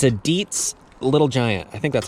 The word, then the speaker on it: Dietz: I think it's usually like red colored, and it's a Dietz Little Giant. I think that's how you pronounce that.